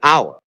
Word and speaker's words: hour: An apple, an hour, because the U is silent, so hour starts with an O vowel sound.